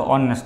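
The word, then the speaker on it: honest: है, मतलब जो देखो अभी मैंने ऑनेस्ट का एग्जांपल लिया था तो ऑनेस्ट तो वो एच से स्टार्ट होता है लेकिन उसका प्रोनाउंसिएशन होता है ऑनेस्ट, ऐसे हम नाइफ, ठीक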